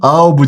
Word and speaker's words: álbum: Álbum de fotografia. O pessoal das antigas sabe o que é. Ó, álbum, separei as sílabas.